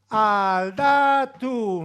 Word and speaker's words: aldatu: So it was something like mazurka, mazurka, mazurka, aldatu, mazurka, mazurka, mazurka, aldatu. Aldatu means change, you know, but in Basque it has 3 syllables and it's very convenient for us, okay?